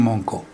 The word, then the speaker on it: Moncaut: con Magdalena, Carlos Antonio Moncó. Carlos Antonio Moncó, Moncaut, se escribe para quien lo quiera buscar, Moncaut, M-O-N-C-A-U-T. Carlos Antonio Moncó fue un historiador regional que vivía en Villa Elisa.